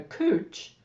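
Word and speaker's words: couch: Gravity, vibration, and a cooch, and even steam are used in the process. You didn't know there was a cooch involved, did you? That's spelled C-O-U-C-H, by the way.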